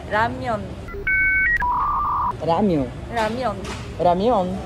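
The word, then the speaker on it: 라면: É que aqui a gente chama de ramen, mas na pronúncia mesmo é ramyeon.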